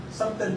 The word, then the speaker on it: subtle: Subtle ba tamang pronounce? Subtle. Bakit kasi B? Alam mo, may ng English, subtle yun eh. May B. Subtle. Wala namang B doon sa subtle.